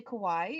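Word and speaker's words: かわいい: good example is Kawai you say Kawaii and it could mean cute you say Kawai like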